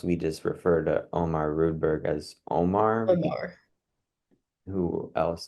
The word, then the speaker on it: Rudberg: wrong for so long it's not redberg it's rudberg are you a real